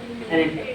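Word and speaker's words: arête: ये देखो, अब दो सर्क देखो, कॉन्सेप्ट है, उसका नाम है अरेटे। अरेटे समझो क्या है? अरेट, कुछ भी आपको प्रोनाउंस कर सकते हो, मैं तो इसको अरेटे बोलूंगा।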